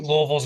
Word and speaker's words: Louisville: It's just, I think Louisville's gonna win. That's how you say it. Just so you know, I was just there this past weekend. That's how you say it down there, Louisville.